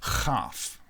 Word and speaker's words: chaf: Now, this one does make like a clicky noise in the back of your throat when you pronounce it correctly, okay? It's chaf, okay?